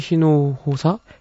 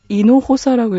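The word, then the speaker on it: Hinojosa: 자, 티시 히노호사? 이노호사라고 읽어야 되나 봐요. 이노호사.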